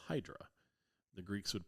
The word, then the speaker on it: Hydra: And then we're going to visit a tiny little island called Hydra. The Greeks would pronounce Hedra, but we pronounce it Hydra.